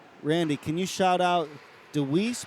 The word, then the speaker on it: DeWeese: Randy, can you shout out DeWeese, pronounced without the E on the end, family?